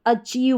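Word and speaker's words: achieve: तो आई ई वी ई। आई ई वी ई इसको आपने पकड़ा कि इसको ईव करके पढ़ते हैं। तो बाकी बची जो आगे की स्पेलिंग उसको पढ़ेंगे। तो ए जो है ए को अ पढ़ा सी एच को च। ठीक है? ए को अ और सी एच को च। तो क्या बन गया? अ च। और लास्ट में ईव जुड़ गया। तो अचीव बन जाएगा।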